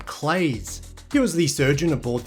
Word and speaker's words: Claise: The brook was named after Frederick Claise, who apparently pronounced his name Claise.